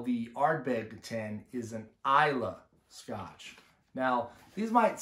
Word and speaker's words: Islay: region of scotch the ILA are so it looks like Islay if you were to pronounce it right from the phonetic English standpoint but it's ila for